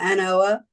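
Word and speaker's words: An Oa: Yeah, ANOA. Is that how you say it? Yeah, Anoa. Yeah.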